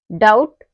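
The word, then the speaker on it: doubt: क्या आएगा टी आएगा तो तब हमारा बी साइलेंट होगा जैसे डेट डाउट और सट इन सब में क्या आ रहा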